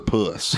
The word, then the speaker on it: Phuss: You pronounce that Phuss or puss? Puss.